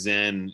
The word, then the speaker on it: Zen: just different word it's there's a chinese character that is pronounced uh chan in in chinese and zen in japanese and it represents a